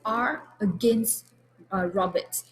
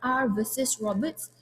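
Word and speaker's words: R v Roberts: the h number so when you pronounce civil cases it will be carlyle and carbolite smoke ball as opposed to criminal cases is r against uh robert so it's not r versus roberts it's very particularly important when you do muting you need to make sure that your pronunciation is correct same goes as malaysian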